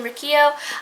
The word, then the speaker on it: Riccio: I realize I've been mispronouncing her name, and I'm really, really sorry, Christine, or to whoever of her friends might see this video or my previous videos in the future. But it's Riccio and not Riccio. It's fine.